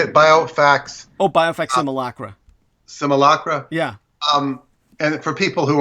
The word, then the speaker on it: simulacra: Simulacra.